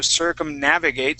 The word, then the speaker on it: circumnavigate: navigate circumnavigation okay so circumnavigate so the the accent's going to change okay so on that first word it's circumnavigate with the accent on the a okay circumnavigate then when